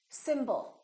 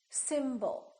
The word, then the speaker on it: symbol: we have two syllables the first syllable is stressed and the second syllable is reduced when we have a